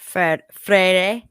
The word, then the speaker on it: Freire: I think the back four is going to be Alba, Freire.